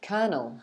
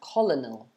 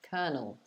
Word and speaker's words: colonel: we don't do that um brilliant so yeah colonel that's how we pronounce this word very tricky right because you'd see it and think it's pronounced colonel but actually colonel okay so that was number 11.